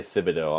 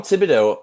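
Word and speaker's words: Thibodeau: Cuz sometimes they'll say Thibido. I'm like, no. Tom Tibido has been fired from the New York Knicks.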